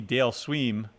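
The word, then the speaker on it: Dale Sveum: for the same reason that we didn't see dale sweem that's how you pronounce that anybody follow baseball no okay uh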